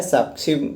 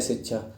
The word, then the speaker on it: शिक्षा: उच्चारण करना साक्षी साक्षी जब योगी जी बोलते होंगे तो बोलते होंगे सिक्षा या बोलते हैं इसलिए शुद्ध बोलते हैं इसलिए आप लोग कहते कैसे बोलते हैं शिक्षा शिक्षा सही होता है सही बोलते हैं